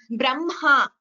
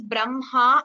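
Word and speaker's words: ब्रह्म: Whenever there is a Hkara followed by the Anunasika Aksharas like Brahma, Vanhihi, Madhyanha, there you chant, pronounce the Anunasika first, Brahma, not Brahma.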